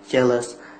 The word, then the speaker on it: jealous: example the word jealous jealous if is we talk about flare without intonation they hardly to understand you jealous the stress the first syllable cheerless jealousy I'm not